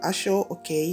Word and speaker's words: Aso-oke: history of ashok fabric ashok pronounced ashore okay is a patterned bloat